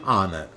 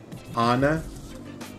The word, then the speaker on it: honour: with consonant letters an honor an hour did you hear the pronunciation honor our in some words the letter H is unvoiced so we use the